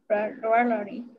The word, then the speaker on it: rarely: Está la cara de la lengua y la lengua queda como en medio y hacia atrás.